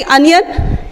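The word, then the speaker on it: onion: ऐसे ही अनियन, यहाँ पे ओ एन आई ओ एन है, साउंड आ की आ रही है और हमने यहाँ पे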